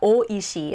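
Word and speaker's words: 美味しい: delicious it's a beautiful flavor uh but yeah o ishi in this case it's like pronounced o and then that that next character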